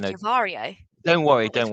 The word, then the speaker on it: Yavrio: And how long ago did you start Yavri? I said it wrong earlier, didn't Yavrio, I? I yeah, said no, Yavario.